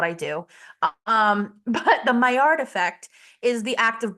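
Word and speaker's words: Maillard: the entire Zoom um the myard method that's how you call like that's how pronounced and it's spelled like malard like the duck so I just called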